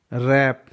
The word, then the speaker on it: wrap: WRAP, W है उसके बाद R है तो W साइलेंट है। रैप, रैप का मतलब होता है कवर करना, ढकना।